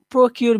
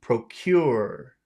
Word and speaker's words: procure: it's a pro yeah one is short pro pro and the but the other one's very long procure procure procure because I'm hearing you